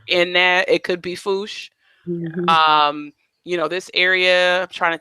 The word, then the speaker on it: Fouché: I think that's right this may be foosh fo u CH e which in Louisiana is could be fouché instead of you know cuz it's sort of in there it could be foosh you know this area